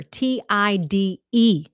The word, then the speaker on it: tide: to eat something little a lot of people say it'll tie you over now that'll tie me over to dinner but that's wrong that's wrong the correct way to say it is it'll tied you over TI d e okay so it's going to help you continue it'll tide you over dinner won't be ready